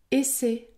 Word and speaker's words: essai: prononce un seul p essai essai je prononce un seul S atterrir atterrir je prononce